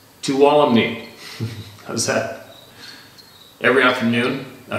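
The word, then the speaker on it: Tuolumne: Doing some rock climbing in Tulum Meadows, Yosemite, MP, 2017, pronounced Tuwalumni. Tuwalumni.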